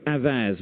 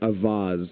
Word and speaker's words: Avaaz: is Ben vicka of avaz which I think I pronounced wrongly how do you pronounce it well I pronounce it avas but it's a word in Hindi and Urdu neither of which I